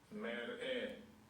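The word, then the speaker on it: מראה: So, merah, I've got this as like the word mayor, or mayor of a city, merah, and mer-er. Mer-er and mer-ah. I think that's the proper pronunciation of it. But I don't want to make a big issue because... Yeah? Strong's H 4758. Mer-eh. Mer-eh. Yeah? So I think that's as close as I can get.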